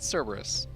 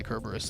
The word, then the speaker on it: Cerberus: Because I'm looking at the name, and I think it's Cerberus. Yeah, it's fun to say Kerberos though.